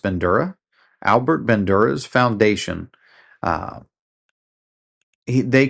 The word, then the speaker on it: Bandura: So Albert, I believe his name is pronounced Bandura, Albert Bandura's foundation, uh, they contributed this to psychology um, by creating one of the most robust theories that we have.